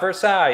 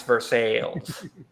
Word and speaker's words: Versailles: Yeah, but we also pronounce it Versailles. So What? Versailles. It's not Versailles. It's Versailles.